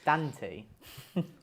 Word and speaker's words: Dante: pillow consider that also apparently um the Americans say um it's Dante not Dante Dante sounds think that's hilarious because it's Dante sounds like a basketball player or something D it's danty danty Commander danty Commander danty